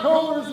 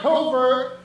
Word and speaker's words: Covert: On further review, I incorrectly pronounced Rob Cover's name. It's Rob Covert, so I'm calling a penalty on myself for 15 yards, but since I'm not playing, it's declined.